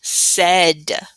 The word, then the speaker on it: said: So it kind of sounds like there should be an E in here, right? Like maybe SED would be spelled it, but no, we have this vowel team right here. AI makes that sound in the middle to make the total word of said.